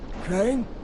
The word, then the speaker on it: Crane: my name is crane crane crane rhymes with train and brain and shine and grain and rain and plane and the other kind of plane and and but can